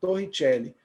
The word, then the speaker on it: Torricelli: Para quem é italiano, né, Torricelli. Aí eu costumo falar Torricelli mesmo. Aí vai da sua pronúncia.